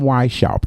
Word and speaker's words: Weishaupt: but may 1st 1776 a guy named adam y shop and that's spelled h w-e-i-s-h-a u p t adam y shopped okay adam weishaupt was the